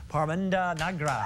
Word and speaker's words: Parminder Nagra: Please welcome Parminder, Nagra.